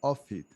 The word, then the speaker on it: Offit: Offit, thank you so much for joining us today.